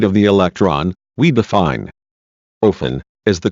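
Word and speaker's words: אופן: It is also the numerical value of the Hebrew word, pronounced ophan, literally wheel, referring to a type of angel, described in Ezekiel, chapter 1.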